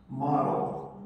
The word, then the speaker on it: model: Model. Model. 네, 모델이죠? 모델 발음은 모델이 아니라 model. 뭐 발음했어요?